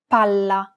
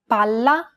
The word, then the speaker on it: palla: Unlike English, double consonants must be pronounced clearly and held for longer periods of time in Italian. Failure to do so could result in miscommunication. Pala. Palla. Remember how Italian is a syllable-timed language? Imagine that you're holding that consonant sound for one extra syllable.